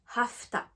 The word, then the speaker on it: hafta: to, on va dire hafta. Donc toujours avec le son F, mais du coup la fin ça sera en ta.